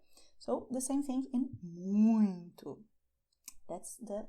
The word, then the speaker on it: muito: And you see that there is a kind of vibration in this area when you say "MUITO", all right? And the air goes up to your nose, which is why the sound is nasal. You don't have to make it so strong, you can say "MUITO", quickly, but so you can understand think about a cow and do as cows do, all right?